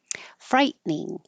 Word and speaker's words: frightening: tense that frightened me frightening when I write it I have to think frighten frightening but we don't say the middle te and it just turns into two syllables frightening that must have been